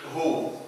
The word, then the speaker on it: who: هنا ما بننطقش الاتش ولكن بننطق الوا W in who في كلمة who الدبليو هي اللي لا تنطق بنقوله who ما بنقولش